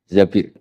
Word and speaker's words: Zabir: Di hadis ini bukan bacanya bukan Zubair, tapi Zabir.